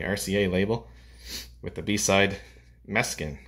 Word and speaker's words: Mes'kin: It was released as a single in August of 1979 on the RCA label with the B-side Mes'kin. I think that's what it's pronounced anyway. It's M-E-S-K-I-N.